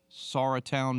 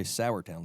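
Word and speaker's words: Sauratown: was unaware of the Sara Town mountains yeah is that how it's pronounced that is it yes you that is correct a lot of people say sourtown mountains but the sour Town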